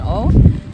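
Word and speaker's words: Å: to stay here in O also if you come to O you need to learn how to properly pronounce it a with a circle above it is pronounced like the letter o oh not a you're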